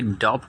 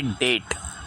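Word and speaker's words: debt: तीसरा वर्ड है डेट। इसे डेप्ट नहीं पढ़ा जाएगा क्योंकि इसका बी लेटर साइलेंट होता है।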